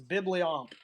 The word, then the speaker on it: Bibliomp: You were close. It's Bibliomp.